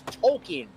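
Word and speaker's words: Tolkien: they were like, "Hey, you've been saying my name wrong. It's Tolken, as in JRR Tolken."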